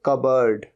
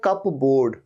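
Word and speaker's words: cupboard: होता है इसके लिए कबर्ड कबर्ड लेकिन स्पेलिंग क्या होती है सी यू पी बी ओ ए आर डी तो लगता तो ऐसे कप बोर्ड कप बोर्ड नहीं यह होता है कबर्ड तो या तो आप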